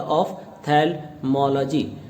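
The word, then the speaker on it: ophthalmology: करने जा रहे हैं, जिसका प्रोनाउंसिएशन है ऑफ, OPH ये एफ का साउंड देगा, ऑफ्थेल्मोलॉजी।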